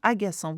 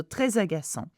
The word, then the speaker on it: agaçant: at the end, and agaçant, which means annoying, begins with a vowel. So très agaçant. Here, we pronounce the S of C because it has a cédilla under the C.